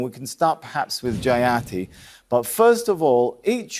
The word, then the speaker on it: Jayati: Yo, just say her name the way it's supposed to be said. Jayati. Jayati. Not Jayatti.